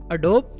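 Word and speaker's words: Adobe: अडोब Photoshop. अडोब Photoshop या इसे अडोबी Photoshop भी प्रोनाउंस किया जाता है।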